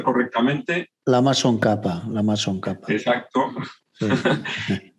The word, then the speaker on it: Tsongkhapa: sé si pronunciar, como no lo voy a pronunciar correctamente. Lama Tsongkhapa.